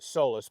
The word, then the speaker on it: Solis: filming on his now is it soless is that how you pronounce I call it sollus but you'll hear people call it Solus soless I think Solus is the correct name but it's just what's stuck with me okay yeah so he's